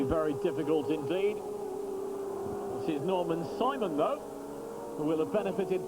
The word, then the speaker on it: Norman Simon: So the German driver, will be Norman Simon, will be the correct pronunciation, now has the lead, and Gino Morbidelli will have 2nd place.